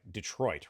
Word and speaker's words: Detroit: city that has like Detroit, right? That's a French word that should not be pronounced that way at all.